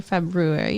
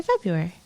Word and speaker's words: February: it's f-e-b-r-u-r-e-b-e-r-y-r-u-a-r-y February but you don't say February you say February why because English is a ridiculous language with all kinds of silent letters in the words you know what's ridiculous